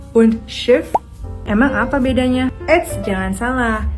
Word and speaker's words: Schiff: Kalau kamu perhatiin, cara baca schief itu sedikit lebih panjang daripada kalimat kedua yang diucapin schiff. Kedengarannya lebih cepat kan? Sedangkan kalimat yang pertama tuh kayak panjang.